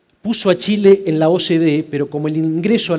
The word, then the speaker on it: OCDE: Vos decís OCDE, yo digo OCDE. A veces me preguntan ¿por qué? ¿Cómo se dice, Marcelo, OCDE o OCDE? Yo digo OCDE porque quiero resaltar la fuerza de la C. Y la fuerza de la C es la fuerza de la cooperación.